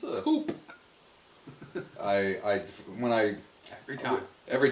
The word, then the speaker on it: Coup: the first thing I did when I open Coupe.